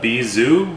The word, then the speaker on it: bijou: rain cane so this drink is called the bee zoo spelled like bijou originally made with gin